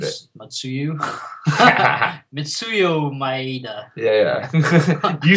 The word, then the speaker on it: Mitsuyo Maeda: who's under Helio, who's under Carlos, and then Matsu Mieda? Like, do you see the lineage? Yeah. Well, I can't say the name. I obviously butchered it. Matsuyu? Mitsuyo Maeda.